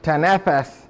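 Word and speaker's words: تنفس: The term إِذَا تَنَفَّسَ, or actually tanafas, because it's at the end of the sentence, so when you stop you don't pronounce the fatha, in Surah Al-Takwir, in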